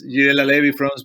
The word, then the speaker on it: Girella laevifrons: Yes, so your paper was titled Microplastic Ingestion Cause Intestinal Lesions in Intertidal Fish, Girella laevifrons, or did I pronounce the Latin name wrong? It's Girella laevifrons, but it has a common name in Chile.